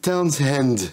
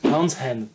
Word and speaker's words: Townshend: Alors, c'est Townshend. Townshend. Pete Townshend. Voilà. Démerdez-vous avec ça. Voilà, le guitariste des Who. Pete, pour ceux qui ont la flemme de prononcer le H à l'anglaise un peu aspiré.